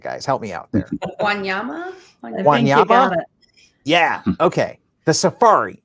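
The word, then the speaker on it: Wanyama: experience is the chico wanayama how do i pronounce that guys help me out there guanyama yeah okay the safari right that's where you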